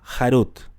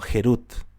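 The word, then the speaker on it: חרות: doblar se podía enrollar incluso la torá dice en hebreo haruth pero lo interesante es que también se puede pronunciar como gerut Libertad en en español lo interesante es que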